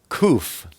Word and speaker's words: kof: sadik then we have kof kof is the number 100 and it's pronounced like a k like cough it's a picture of